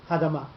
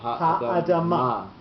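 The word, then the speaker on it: הָאֲדָמָה: So you can't say hadama. You can't say it. You just lose part of the word. So the accent is shared between the two syllables. So it'd be Ha'adama. Okay.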